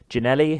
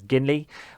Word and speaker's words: Ginelli: Another player who I realised I had been mispronouncing their name pretty much for the entire series is actually Ginelli, who I've been referring to as Ginley.